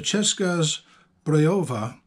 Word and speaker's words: Česká Zbrojovka: oh honey what you're looking at here is a cheska's breova visor 70. that's the how you pronounce the name of CZ in Czech what this is back